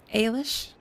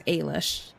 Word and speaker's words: Ailish: you my name is aylish say that again ailish rematch yeah it's basically uh pronouncing the letter a and then Lish just just kind of put them together then it's Alish hey aren't you that